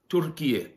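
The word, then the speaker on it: Türkiye: We're meant to pronounce it Turkiye.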